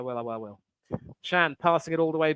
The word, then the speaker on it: Can: if anyone chan emray chan yeah Jackie Chan is it yeah you know pronounced Chan but spelled can that was yeah and